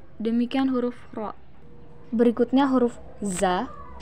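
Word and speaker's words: ز: Huruf za dikeluarkan dengan ujung lisan kita hampir di atas gigi seri bagian bawah. Diucapkan dengan mengalir suara tanpa diiringi dengan udara. Sifat lain pada huruf za ini karakter khasnya, dia mirip dengan suara dengungan tawon.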